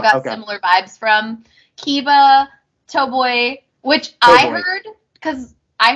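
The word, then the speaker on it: Toboe: Kiba, Toboy, which I heard because I heard Doughboy. That's what I was like hearing, and I was like, that can't possibly be right. Doughboy. I'm like, what? It's Toboy. Toboy. It's the way they pronounce it.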